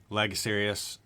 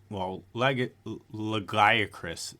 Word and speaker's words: Lagiacrus: 3, Lagosarius / Lagiacrus is actually how you say it.